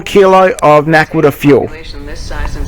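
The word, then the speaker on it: naquadah: It is Naquita. pronounced You Naquita.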